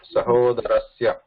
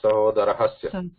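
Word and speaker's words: सहोदरस्य: It is sahodarasya, not sahodarahasya. Sahodarasya, like we have written here, Ramasya, there is no ha in it.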